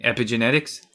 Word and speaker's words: epigenetics: All right, tell us about this word that I have trouble pronouncing. Epigenetics?